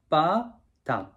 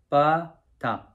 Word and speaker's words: BBA-DACK: I'm gonna just show you how to say it. It's a ba dak, ba dak.